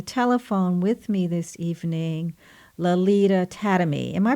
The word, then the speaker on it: Lalita Tademy: have on the telephone with me this evening Lolita tatamy am i pronouncing your name correctly I can't believe it